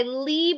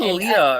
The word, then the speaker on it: Leigh: Shadow and Bone by Leigh Bardugo, because Will said it wrong in the last video. I said Leah or Leia or something like that.